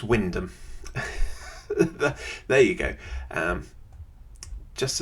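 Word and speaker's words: Wymondham: If you don't know how that place is spelled, uh, is pronounced. Have a go. Nope, it's Windom.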